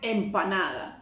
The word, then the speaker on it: empanada: The right word is empanada.